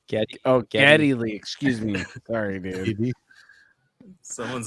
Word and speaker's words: Geddy Lee: Giddy Lee. What I said? Did I say it wrong? So what was his name? Giddy Lee. Geddy Lee.